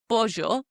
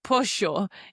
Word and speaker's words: pollo: the double L sound, how it's pronounced like J, like pollo. Okay. In some areas of Argentina, they pronounce it like a sho sound instead of jo.